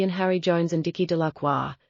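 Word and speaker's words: Delacroix: Harry Jones and Dicky de laqua the villagers pronounced this name delit eventually made a great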